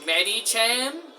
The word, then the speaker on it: Medicham: And the pronunciation of the name is Medicham.